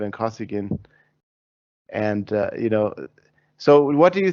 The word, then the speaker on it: Kosygin: Let me ask your opinion about and also correct my Russian pronunciation. Brezhnev Kosygin.